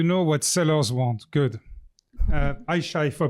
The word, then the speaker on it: Ayca: I shy if I pronounce correctly your name.